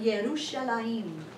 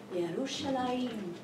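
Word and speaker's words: ירושלים: In Hebrew, it's like Yerushalayim. Ooh, that, you just say it like that and just, ooh, Yerushalayim.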